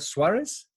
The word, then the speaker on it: Suárez: I hope I pronounced that right is that Suarez?